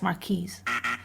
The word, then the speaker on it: Marquis: Yeah, it's Marquis.